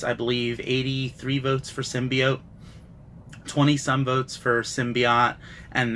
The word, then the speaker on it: symbiote: just drove me crazy I think she says symbiotic symbiote or she messes up the pronunciation the word is symbiote that is the agreed-upon pronunciation that's Merriam Webster's pronunciation I took a poll